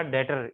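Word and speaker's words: debtor: लफ्ज इस्तेमाल किया था ये रिसीवेबल या डेटर, इसमें बी साइलेंट होता है।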